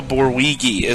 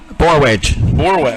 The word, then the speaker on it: Borwedge: I believe it was Noah Borwigi. Am I pronouncing that correctly? Borwigi? I better put on my glasses here so I can see what you're looking at. Borwedge. Noah Borwedge.